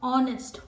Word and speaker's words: honest: Okay, because honest begins with vowel sound. When we pronounce honest, what type of sound comes? O, honest, O. So the sound is similar to orange, honest, orange, O.